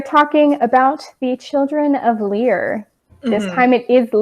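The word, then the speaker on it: Lir: about the children of lear this time it is not liar like every other time i mispronounce that stupid word but anyways we are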